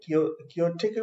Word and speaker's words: chaotic: इसके प्रोनाउंसिएशन पे ध्यान दीजिएगा। ये क्योस से बना है, क्योटिक बोलते हैं इसको, ठीक है, क्योटिक।